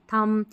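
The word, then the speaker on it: thumb: जैसे इसको थंब नहीं पढ़ेंगे, थम, इसको कॉम्ब नहीं पढ़ेंगे, कॉम, इसको लैम्ब नहीं पढ़ेंगे, लैम्ब, बॉम्ब नहीं, बॉम्ब, बी साइलेंट है, म पे ही पढ़ेंगे।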